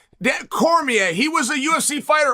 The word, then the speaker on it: Cormier: APPARENTLY, HE'S LIKE AN EQUAL PARTNER IN IT, WHICH I DIDN'T KNOW, but thank you for giving his it's pronounced Cormier. Dan Cormier.